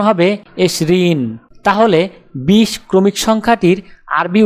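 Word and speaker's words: عشرون: আরবি ক্রমিক সংখ্যা 20 দেখতে এরকম, উচ্চারণ হবে এশরিন।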